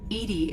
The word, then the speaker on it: EDI: the airlock is ajar why are you named edie edie is the phonetic pronunciation of edi that is an acronym for